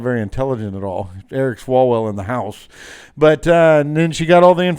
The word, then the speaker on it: Swalwell: who's gonna be president eric swallows well i'm sorry i mispronounced that eric swalwell in uh california apparently